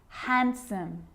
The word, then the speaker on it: handsome: So what about the letter D? Yep, it can be silent too. Wednesday, handsome, sandwich. So I'm not pronouncing the D in sandwich. I'm just pronouncing the consonant N sound before it.